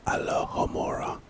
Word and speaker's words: Alohomora: spell nothing the next spell is Alo hamora pronunciation ah Loora alohomora alohomora it's type is a charm purpose unlocks